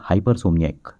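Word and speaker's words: hypersomniac: ठीक है, तो ऐसा शख्स जो कि बहुत ज़्यादा सोता है उसे कहते हैं हाइपरसोमनियाइक। हाइपरसोमनियाइक, हाइपरसोमनियाइक, HYPR, हाइपर, SOMNIAAC, हाइपरसोमनियाइक। ठीक है, इसकी स्पेलिंग बहुत ज़्यादा इंपॉर्टेंट है।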